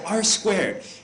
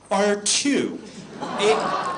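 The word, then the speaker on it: ageLOC R²: name of the product it's r squared it is not r2 and i only tell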